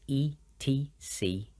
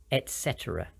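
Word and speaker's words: et cetera: making it Etc but it should be pronounced with a t sound and all three e sounds Etc some examples what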